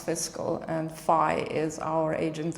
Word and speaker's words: Fiskl: Fiskl, and pronounce Fiskl.